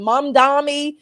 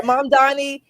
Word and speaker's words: Mamdani: And how do you pronounce his name? Mamdani. Yeah, Mamdani.